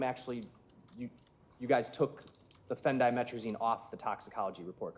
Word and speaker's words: phendimetrazine: Yes, that is spelled Phendimetrazine. Phendimetrazine.